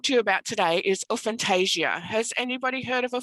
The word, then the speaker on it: aphantasia: wanted to talk to you about today is fantasia has anybody heard of a fantasia yep so